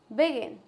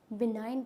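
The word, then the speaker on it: benign: जाएगा नरली no assign बिगन क्या हो जाएगा इसको बिनाइन पढ़ेंगे इसको बिगिन नहीं पढ़ेंगे क्या पढ़ेंगे बिनाइन नेक्स्ट कंपन चपन चमन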